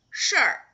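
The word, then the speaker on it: 事儿: Okay, when it is 儿化, it will be 事儿.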